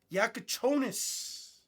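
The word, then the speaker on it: Jakučionis: I was home, I was watching highlights on Yakachonis.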